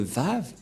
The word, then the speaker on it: vav: lettre V et donc la prononciation du lettre vave en hébreu selon la prononciation de Abraham et Moché on le prononce V mais pas W ou ou comme avec